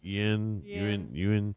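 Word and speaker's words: Yeun: Y-E-U-N. You said it right. Yin.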